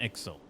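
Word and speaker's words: Ixal: a chieftain all right it's an axle that's how you notice pronounce it now that they would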